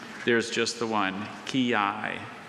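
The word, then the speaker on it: quillai: Could you please repeat the word ki?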